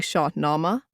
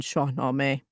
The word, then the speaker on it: Shahnameh: I pronounce Persian terms with Indo-Persian pronunciation, not modern Iranian pronunciation, saying Shah Nama rather than Shahnameh.